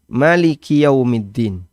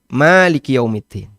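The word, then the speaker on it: مالك يوم الدين: Maliki yaumiddin Maliki yaumiddin ada dua cara baca Ya bisa dibaca pendek Maliki yaumiddin bisa bisa dibaca panjang Maliki yaumiddin nah yang jadi masalah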